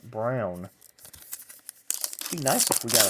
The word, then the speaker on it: Braun: brawn like todd braun but it's pronounced brown so it's colin brown be nice if we